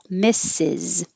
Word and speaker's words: Mrs: excuse me mrs barb it is for married women and the vowel stressed vowel is still i miss and then an is misses and number five is